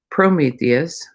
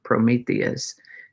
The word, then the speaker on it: Prometheus: Prometheus, I put the emphasis on the first syllable, but that's not exactly how it goes. Prometheus is how that is.